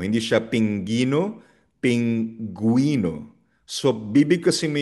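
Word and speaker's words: pingüino: Kapag merong dalawang tuldok sa letter U, ang ibig sabihin ay binibigkas yung letter U. Paano yun? So for example ang salitang penguin sa Spanish sa pingo. Pinguino.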